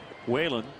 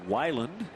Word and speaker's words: Weiland: Combined 4-hit shutout for John Lester and Kyle Whalen. Actually, Kyle Weiland. That's how you say it.